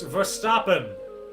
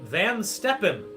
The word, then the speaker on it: Verstappen: one world championship uh that is max verstappen not as i was pronouncing it van steppen that'd be wrong he defeated lewis hamilton